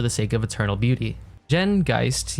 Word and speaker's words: Geist: Jen Geist, yes, that's how it's pronounced, born in 1815, comes